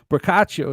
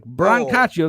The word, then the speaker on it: Brancaccio: Yeah, the C is pronounced hard, but it's not a big deal. Brancaccio. That's okay. Joey always forgets to say the N. He goes Brancaccio. It's like Brancaccio. It's not a sandwich.